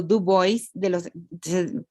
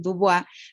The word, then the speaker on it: Du Bois: gran pensador negro llamado Du Bois. Ustedes pensarán que parece un nombre francés y que debería decir Dubois, pero en realidad se pronuncia Du Bois, que es el gran